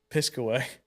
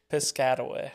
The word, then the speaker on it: Piscataway: Piscaway. Piscataway. I don't know. There's an A after. Like a Triscuit. Yeah, like a Triscuit. Piscataway.